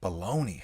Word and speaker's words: bologna: think it's all baloney wow baloney yeah the g is silent in bologna yeah so then for